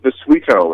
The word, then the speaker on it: Bisuito: It's pronounced Bisuito. It's Sicilian.